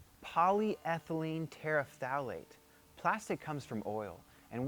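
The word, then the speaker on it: polyethylene terephthalate: of polymer that's not an easy word to pronounce. Polyline polythylene tetraet tetrathylene tetrailate polyethylene terafalate.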